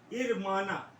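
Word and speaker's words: hermana: अब देखिए यहाँ पर एच जो है वो साइलेंट रहेगा, तो हम क्या बोलेंगे? इरमाना, इरमानो।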